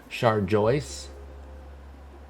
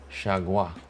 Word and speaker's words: Chargois: Char Joyce. No, wait, it's Chargois, no? Is it pronounced Char Joyce? Chargois. Actually, you don't even pronounce the R. Chargois, according to BREF.